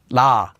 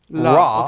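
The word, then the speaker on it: 라: Let's use our previous vowel, ah, and we get la, la, la. Notice how it's not ra, okay. So and notice that it's not quite la either. Instead it's la.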